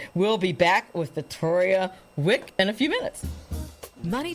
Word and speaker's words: Wieck: now and uh without further ado ms victoria wick am i pronouncing your name right absolutely melanie such an